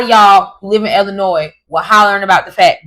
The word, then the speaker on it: Illinois: stay and it's not Illinois it's Illinois. Please please stop pronouncing the S.